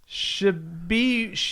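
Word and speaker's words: Tshiebwe: Oscar Shibwe. Just pronounce it like it's spelled.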